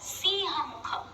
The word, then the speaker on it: Simha Mukha: also pronounce it as Siha Mukha. Either way, it's correct. But Simha Mukha, as the name suggests, means Simha is a lion, Mukha is the face.